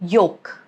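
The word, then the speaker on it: yolk: Or when it comes after letter O like yoke. Okay. Again, no sound of L.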